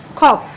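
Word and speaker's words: cough: তারপরটা যখন আমরা উচ্চারণ করছি তখন হয়ে যাচ্ছে আবার কি খফ, এই যে তখন হয়ে যাচ্ছে আবার খফ, হ্যাঁ।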